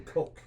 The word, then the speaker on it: Koch: It's actually Koch. Koch, okay. Koch, yep. So like Coca-Cola.